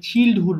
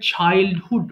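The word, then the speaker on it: childhood: এখানে একটা ওয়ার্ড আছে চাইল্ডহুড। এটা অনেকে ভুল করে চিলডহুড বলে ফেলে। উচ্চারণটা হবে চাইল্ডহুড।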